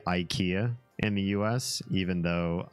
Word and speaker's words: Ikea: say that I say Ikea in the US even though I speak Swedish and I know it should be pronounced EA because it rhymes with E and that was like